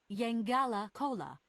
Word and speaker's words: Yengala Cola: The right pronunciation is Yengala Cola.